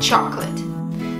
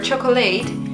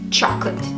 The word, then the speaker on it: chocolate: It's not chocolat or chocolate, it's chocolate. You don't pronounce the O in the middle of the word.